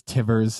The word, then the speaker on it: Tivers: You know, it's Tivers. And I used to, you know, think, why do people, you know, say it incorrectly so often? It's Tivers. It rhymes with Rivers.